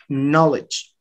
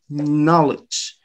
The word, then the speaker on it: knowledge: have the apostrophe ah the apostrophe is before the first syllable so this first syllable is a stress knowledge knowledge and knowledge then you